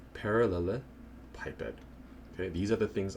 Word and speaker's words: parallelepiped: was in high school, completely butchered that because of his Slavic accent. But yeah, it's pronounced parallelepiped.